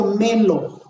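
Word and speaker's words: μέλλω: Y fíjese bien, en griego, la palabra, ahí entre paréntesis, se pronuncia melo.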